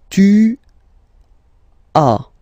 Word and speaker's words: tu as: Okay, second one, tu as. Okay, as usual in French, final S is not pronounced.